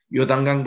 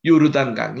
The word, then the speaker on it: 요르단강: 것입니다 이게 요르단 입니다 요단강 보다는 요르단강 2 정확한 발음이 고 해서 이게 요르단은